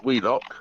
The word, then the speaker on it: Wheelock: is spelt wheel lock oh willis but it's pronounced wheelock yeah and i'm and i'm heading towards middlewich